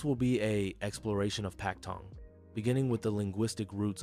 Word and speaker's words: Paktong: Because Westerners were restricted to trading in the port of Guangzhou, Canton, they adopted the Cantonese pronunciation, Paktong. The English P sound replaced the softer B sound.